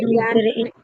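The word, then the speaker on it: ي: ইয়া হরফটা উচ্চারণ করার সময় একটু আমাদেরকে খেয়াল করতে হবে জিহ্বার যে মাঝখান থেকে ইয়া হরফটা নরম। জিহ্বার মাঝখান থেকে এই যে এখানে লেখা আছে ইয়া উচ্চারণ ইয়া জিহ্বার মাঝখান থেকে নরম ভাবে আদায় হবে ইয়া দুই পেশ ইউন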